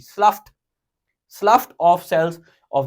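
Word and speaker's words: slough: ऑफ the elementary kanal spelling है एस एल ओ यूजी एच ईडी है बनते है स्पेलिंग बनते हैं स्लाउट है ना लेकिन असल में ये इसके जी एच को क्या साउंड निकालनी है एफ की स्लफ स्लफ ऑफ सेल्स ऑफ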